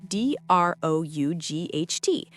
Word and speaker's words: drought: Spelling D R O U G Ht. Pronunciation drought. It rhymes with out.